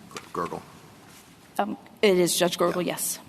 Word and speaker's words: Gergel: I mean, at trial, Judge Gergel, is that the correct pronunciation of his name? Gergel.